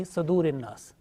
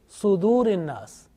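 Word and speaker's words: صدور الناس: Now this Sad, sometimes pronounced unintentionally with Fatha, like Yuwaswisu fi Sadurin Nas. So make sure that this Sad, whenever you teach to others, this Sad with Dhamma. Okay? So it means Sudurin Nas.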